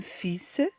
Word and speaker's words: fils: dans des cas particuliers nous avons le s qui se prononce à la fin comme un fils un sens un cactus un consensus aux pays bas